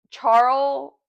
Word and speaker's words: Charl: Charl. Charl. There's no S on it.